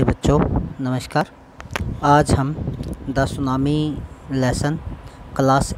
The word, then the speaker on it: tsunami: का नाम है दा सुनामी और सुनामी में टी साइलेंट तथा आपको पता है